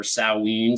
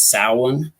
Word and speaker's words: Samhain: word right here and it's definitely not pronounced the way it's spelled it's actually uh pronounced salon or salween some people pronounce it different ways some people pronounce it so on but the most common